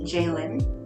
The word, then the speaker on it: Jaylene: Which is apparently supposed to be pronounced Jaylin. That's hard for me, so it's Jaylene.